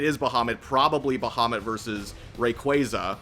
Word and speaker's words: Rayquaza: And if so, and if it is Bahamut, probably Bahamut versus Rayquaza, which apparently is the right way to pronounce it, so don't come at me for that. That shit's Rayquaza.